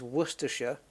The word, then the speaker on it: Worcestershire: good one werer yes Americans like to call it Shia but it's not in Scotland you can have Shia um you can have both Shia and Sh in Scotland right cuz you've got AA and then you have a longer one which is black manshire where this one is worcestershire then you've got Yorkshire Nottingham Shire it's sh in the UK uh in England sorry basically I I think isn't it but in Scotland you